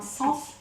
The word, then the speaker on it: cens: Sens, ça s'écrit C-E-N-S, donc le sens.